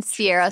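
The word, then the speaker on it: Ciara: very patient about no mine Sierra spelled c i a r a and it was like that is very confusing when you see it on paper mine Sierra CRA c i a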